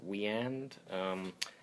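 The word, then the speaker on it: Wieand: And, Roy Burns, when he's out of the costume, is played by Dick, I think his last name is pronounced Weand.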